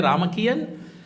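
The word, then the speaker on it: Ramakien: But they pronounce it as a Ramakian.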